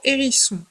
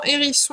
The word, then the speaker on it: hérisson: Et ensuite, le mot hérisson. Alors, dans hérisson, il faut faire attention au H muet au début. On ne l'entend pas, mais il existe.